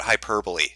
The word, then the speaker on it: hyperbole: head people have gotten on my case about hyperbole see I said it right that time uh